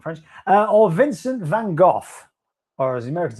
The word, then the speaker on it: Vincent van Gogh: Or Vincent van Gogh. Or as the Americans say, Vincent van Gogh.